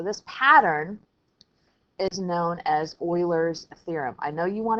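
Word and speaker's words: Euler: pattern is known as Oilers theorem I know you want to say you but it's actually pronounced Oiler like if you remember way back the Houston Oilers who became what the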